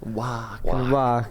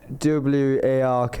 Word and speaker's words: Wark: Wark. How do you spell it again? WARK. It really is Wark, and there's no other way to say it.